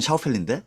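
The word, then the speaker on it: Schaufeli: 어, 뭐 여기서 이제 샤펠리로 소개된 사실 샤우펠리인데 발음은 책에서는 샤펠리로 소개돼 있죠.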